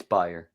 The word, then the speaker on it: Bayer: buyer or Bayer it's buyer I know it's spelled Bayer but it's actually pronounced buyer it's a German company oh interesting about that